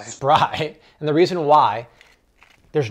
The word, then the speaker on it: Spry: It's Spree, or is it pronounced Spry? Spry.